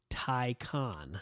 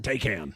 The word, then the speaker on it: Taycan: the holidays is the pricing of the Porsche Tyco on icon Tyco on there's actually a video on youtube that teaches you how to say how much that spelled it's spelled ta Y CA n take am take hands get me a taking one them